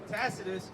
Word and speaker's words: Tacitus: Tacitus, Tacitus, how do you pronounce it? Tacitus.